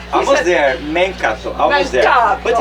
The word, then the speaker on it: Mencatto: Did I pronounce that right? Almost there, Mencatto, almost there.